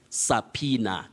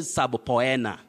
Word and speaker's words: subpoena: this country and you say subpoena don't say sabo poena sub poena sa poena no you say subpoena and looking at the phonetic transcription that i've given below you realize that you say sir then we have that mark that mark shows that you have a primary stress then you say pina sabina subpoena that is a written